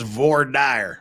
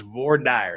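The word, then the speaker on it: voir dire: Americans love to mispronounce now we we we pronounce it correctly ghost it it is VOR dire and I will fight you to the death on that it is it is VOR dire there ain't no other way to pronounce trust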